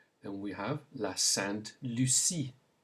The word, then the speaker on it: la Sainte Lucie: Then we have la Sainte Lucie.